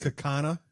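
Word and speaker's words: Kaukauna: It's pronounced Cookana.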